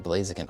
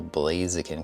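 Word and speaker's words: Blaziken: Okay, so I'll probably need to put a couple Blazakin cards on here, right? I feel like I'm saying blazakin. Uh, weird. Really like emphasizing uh a strange syllable there.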